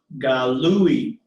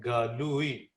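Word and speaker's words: גָּלוּי: This word is pronounced galui. और ये जो है लफ्ज आपके सामने लिखा हुआ ये है galui. So galui, the ui is the diphthong.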